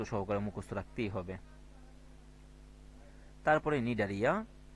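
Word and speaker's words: Cnidaria: মুখস্ত রাখতেই হবে তারপরে নিডারিয়া তো দেখো নিডারিয়া বানানটা দেখো এন আই ডি এ আর আই এ তার পূর্বে সি হবে সি নিডারিয়া নিউরোসাইট নামক বিশেষ বৈশিষ্ট্যপূর্ণ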